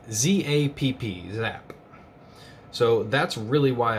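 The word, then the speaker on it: Zapp: called zap it's a german steel maker and it's spelled z-a-p-p zap so that's really why i wanted this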